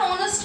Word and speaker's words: honest: This is a consonant, but we are going to use here an honest person. Why? Because here this is silent. This H is silent.